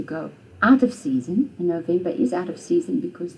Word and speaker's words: November: So the name of the month, November, is the same in Afrikaans except you say it differently. You say November.